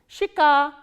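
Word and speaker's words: щека: ye, ka, a, and the stress is on a. So, how will you pronounce this word? Shika, shika. Again we follow the rule of reduction here. This ye sound is pronounced as e, shika.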